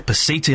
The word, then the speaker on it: Pasiti: It's a Pasiti. I would have gone for the Pachiti. I would have been completely wrong.